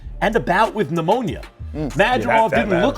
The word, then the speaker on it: Madrimov: Watch only on Majimov. Madimov. All right, it's Madrimov.